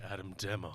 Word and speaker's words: Adam Demos: Adam Demos.